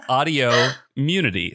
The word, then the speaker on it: Audiommunity: even say it now it is audio immunity same number of syllables as autoimmunity but it's autoimmunity isn't it clear it couldn't be